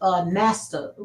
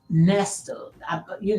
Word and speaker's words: Nesta: Now, I sat there and I watched Nasta, and I might be pronouncing his name wrong, Nasta wife, Nasto. It's Nesta.